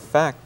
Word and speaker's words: fact: In fact, 역시 F 발음이기 때문에 윗니로 아랫입술 안쪽을 가볍게 대시면서 성대가 울리지 않도록 하는 무성음 F 발음 fact입니다.